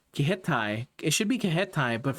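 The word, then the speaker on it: Kiheitai: Kihete, I'm saying it in like a weirdly like I feel like in a more Spanish way, but that's not how you say it. It's the Kihetai.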